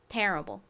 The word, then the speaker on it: terrible: t는 티 소리 나고요. e는에 소리로 쓰였죠. R은 리을 소리. Ibl는 ble 소리 나서 terrible이라고 발음을 합니다. 가장 앞에 강조를 빡해서 발음해 주세요. terrible.